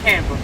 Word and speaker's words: Canberra: you halfway between camp that is how you pronounce it Canberra ignore the E pretend it's not there two children now on